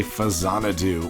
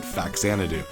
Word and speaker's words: Faxanadu: welcome to let's play fazana do or if you were stupid like me growing up you called it faksanito which is not how you pronounce it at all this is a relatively